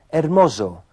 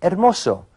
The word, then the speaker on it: hermoso: Walter dijo hermoso con el sonido de una Z inglesa en vez de hermoso, que es como se diría correctamente en español.